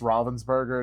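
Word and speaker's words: Ravensburger: It's It's a different I can't remember if it's supposed to I think it's supposed to be pronounced Robven'sburgger. It's not actually like Ravensburgger, even though but yeah, the puzzle company.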